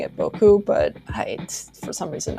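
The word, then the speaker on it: 僕: um they use Boku pronounced Boku with the emphasis on the bow I I should be pronouncing it Boku but I for some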